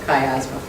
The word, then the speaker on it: chiasmus: So chi as in sky and asthma because the s isn't pronounced, chiasma.